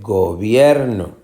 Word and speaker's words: gobierno: El gobierno. El gobierno. Gobierno. Pues es obvio que, o por lo menos para mí, que se dice gobierno. Esta es la sílaba tónica, la del medio.